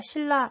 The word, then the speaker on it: 신라: 리얼로 발음 되게 되어있어요 자 신나 요렇게 쓰지만 우리가 이걸 발음할 때는 신나 가 아니라 신라 라고 발음해야 되고요 마찬가지 천 미천